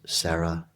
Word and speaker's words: Sara: Her name is Sarah Imari Walker. Imari is spelled I-M-A-R-I.